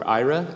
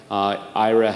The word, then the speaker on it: Aira: I am the Vice President of Blindness Initiatives for Aira. Aira is spelled A-I-R-A.